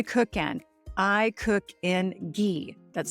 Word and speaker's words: ghee: what do I cook in I cook in ghee that's spelled g h e e ghee has um